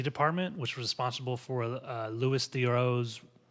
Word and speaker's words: Louis Theroux: They sent it out to the BBC department, which was responsible for Louis Theroux's how do you say his name? Louis Theroux.